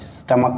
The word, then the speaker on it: stomach: एक है STOMACH, स्टमक माने पेट, ठीक है। ये जो CH आपको दिख रहा है इसका उच्चारण हम च नहीं बल्कि क करते हैं।